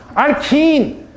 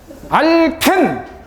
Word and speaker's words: 알켄: 알킨. 우리는 외국인이 아니죠. 알켄 토종 발음으로 가자고요.